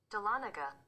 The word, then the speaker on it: Dahlonega: i actually have it right here let me spell it for everyone who's wondering it's d-a-h-l-o-n-e-g-a go ahead dahlonega we heard i heard it through the yes let me headphones it again dahlonega sounded the same but yeah dahlonega dahlonega georgia